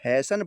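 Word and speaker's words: hasten: तो यहां पर टी नहीं बोला जाएगा। इसको हम हैसन पढ़ेंगे। हैसन हैसन पढ़ेंगे। हैस्टन नहीं पढ़ेंगे। यहां टी साइलेंट रहेगा।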